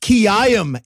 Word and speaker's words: Quilliam: Most of that guy's life was yelling, it's pronounced Kiyam, assholes.